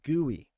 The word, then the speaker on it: GUI: Or what's also called a graphical user interface, which GUI, which we actually pronounce as GUI.